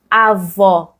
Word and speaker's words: avó: Mais on va dire avó. Ce O ici, il est très ouvert, c'est O, O.